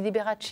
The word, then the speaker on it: Liberace: On dit Liberace, oui.